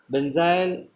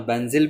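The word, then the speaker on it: benzyl: है बेंजाइल ऑक्सीकार्बोनिल glycine, बेंजाइल या बेंजिल भी बोल सकते हो आप इसको, है ना, मैं थोड़ा बेंजाइल बोल रहा हूँ, बेंजिल भी, अलग अलग प्रोनाउंसिएशन होते हैं, आप प्रोनाउंसिएशन का थोड़ा ध्यान रखना। हो सकता है कि मेरा प्रोनाउंसिएशन थोड़ा डिफरेंट हो, कहीं और आप सुनो तो प्रोनाउंसिएशन और होगा, बट दोनों ही वैलिड हैं, है ना, बेंजाइल भी वैलिड है और बेंजिल भी है, क्योंकि आपको पता है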